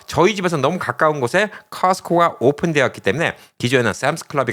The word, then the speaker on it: Costco: T발음 안 하는 거. 그래서 커스카라고 오늘 좀 이야기를 하도록 하겠습니다. 자, 커스코 하면 진짜 좋은 물건들이 참 많이 있습니다.